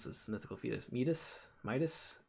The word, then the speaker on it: Midas: Someone in chat, I should know how to pronounce this. Mythical fetus, Midas, right?